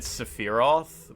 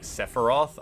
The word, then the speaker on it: Sephiroth: And I always said Sephiroth instead of like Sephiroth, I guess. Like, I guess that's not a particularly weird pronunciation. It's just the emphasis is on the wrong syllable.